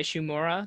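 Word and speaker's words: Shimura: it particularly the main performance by shumura that's how you pronounce his last name correctly this is okay um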